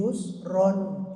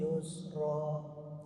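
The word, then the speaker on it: يسرا: ni faainna maal Usri Yusron Inna maal Usri Yusro Nah jadi Yusro enggak pakai tanwin enggak dobel bacanya ketika wa waqa Yusron kita Apa bacanya tanwin dobel ketika diwal ini saja pun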